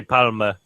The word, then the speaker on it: Palme d'Or: You pronounced that very funny. I am awful at it. I'm so bad. There's no. You don't need to. Yeah. Just palm. Oh, essentially palm. You can say palm like essentially the same.